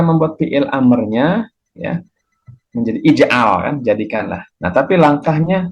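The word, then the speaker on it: اجعل: di sini i ya Mengapa I karena huruf Ain fi'ilnya ya tengahnya itu dibaca a Ijal bukan ujal ya tapi Ijal ya dan bukan juga ajal enggak ada ajal untuk fi'il fi'il Amar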